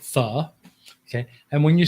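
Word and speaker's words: phở: And when you say the, it's not pho, like you hear a lot of Americans say. It's not a bowl of pho, it's the. And the pronunciation is because the O has a kind of like like a question mark without the dot connected to it, which is kind of like a question sound.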